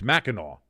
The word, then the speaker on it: Mackinac: Like how Mackinac, it's Mackinac, but it's spelled Mackinac.